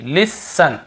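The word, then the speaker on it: listen: को नहीं पढ़ते देखिए लिसन लिसन लिसन यहां पर भी टी नहीं पढ़ रहे हैं ऑ फन ऑफ यहां पर भी टी ऑफ्टन लिस्टन नहीं पढ़ रहे ठीक है देखिए ग्लिसन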